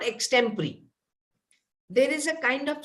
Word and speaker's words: extempore: called yes that that is x temporary okay e x t e m p o r e so something like my second joke yes so some people pronounce it as extempore but the correct pronunciation is extempory we have ex temporary is very much you